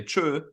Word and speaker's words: tschüss: And he's like, yeah, well, there are certain areas that they don't even pronounce the S. They'll just go tschü. And I was like, what? Yeah, like if you're in the area where Electric Callboy come from, they say tschö.